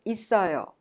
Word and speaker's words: 있어요: And we've seen throughout this unit that 있어요 is pronounced 있어요. The final consonant double S in it of 있어요 is prolonged and connected to the next syllable 어 and becomes 있어요.